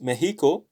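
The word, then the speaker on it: México: nx examine examine so an exception is mexico where the x here is like a spanish j it sounds like a an h in in english so in fact another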